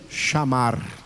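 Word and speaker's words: שמר: verbo só lembrar que se pronuncia chamar como se fosse o verbo chamar Manoel chamaram de fazer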